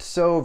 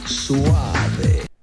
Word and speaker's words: Soave: think this is pronounced Soave or Soave, but to help you remember and never ever again forget how to pronounce it, it sounds exactly like this. Rico. Soave.